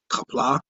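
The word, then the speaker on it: Qapla': Kapla, Emily. Nice closing there. Oh, that's how you pronounce it.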